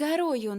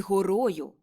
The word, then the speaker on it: горою: брат і сестра під гарою над криницею Мокій не під гарою а під горою там написано під горою читайте будь ласка як